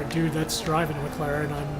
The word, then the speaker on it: McLaren: It's a McLaren. Yeah. That is how you pronounce it, right?